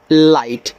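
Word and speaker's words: light: एल आई जी एच टी इसको पढ़ेंगे लाइट।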